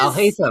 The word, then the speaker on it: Alhaitham: That doesn't strike me as Alhatam? How do you pronounce that? Alhatam? Yes! Alhatam. You got it Is right! it Alhatam?